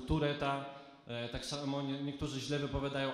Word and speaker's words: Tourette'a: Ale też niektórzy wymawiają zespół Taureta, to się wymawia zespół Tureta.